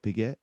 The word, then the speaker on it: Piguet: know how to you you don't know how to use the accents you have a heart you'll have a hard time learning another language it's piguet you got to say you're emphasizing the get part but it's piguet it